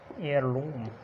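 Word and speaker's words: heirloom: बहुत से अल्फाज के शुरू में एच साइलेंट होता है और समटाइम्स डब्ल्यू से पहले भी एच साइलेंट होता है। एग्जांपल्स देखते हैं एच की। एग्जांपल जैसे ऑनेस्ट, ऑनरेबल, इसी तरह एयर और एयरलूम। ये एग्जांपल्स हो सकती हैं कि शुरू में जब एच आता है वो कहाँ कहाँ पे साइलेंट होता है।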